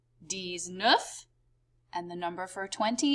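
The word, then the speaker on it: dix-neuf: they kind of do it in reverse in french they say 10 7 10 eight ten nine pronounced like this d set d sweet dis nuff and the number for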